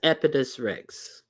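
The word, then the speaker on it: Oedipus Rex: Oh, the O is silent. Thank you, thank you. So that's Epidus Rex.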